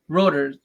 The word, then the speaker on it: Reuters: Reuters. Like a rotor cuff.